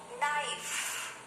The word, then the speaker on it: knife: is not so the sound of letter k is silent let's see some more words knee knee knife knife not not let's see